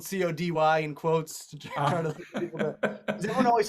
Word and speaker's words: Cote: first people that ever everyone always pronounces it coat but i actually i released an ee uh two years ago now or all this pronounced cody but i spelled it